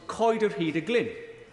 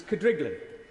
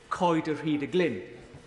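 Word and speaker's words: Coedrhydyglyn: amazement she said that the one she recalls best was coid of heeda glynn a property within my constituency that even locals wrongly pronounced as kadriglen it turned out that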